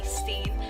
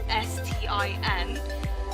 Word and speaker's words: Stin: trying to call me Steen. My real name is spelled out S-T-I-N, but they would always get it wrong. They would say Stin instead of Steen.